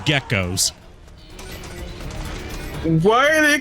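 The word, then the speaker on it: Gekkos: try not they're called geckos why are they called geckos when they move uh not not spelled like the animal but pronounced the same way you'll see a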